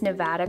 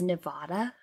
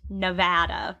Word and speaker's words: Nevada: Okay, so guys, our goal for this episode is to pronounce Nevada correctly the whole time, because we had to look it up and we thought it was Nevada.